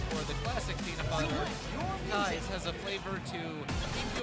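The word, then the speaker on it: Kize: Whether you're into cookie dough, peanut butter chocolate chip, or the classic peanut butter, Kai's has a flavor to keep you energized throughout the event.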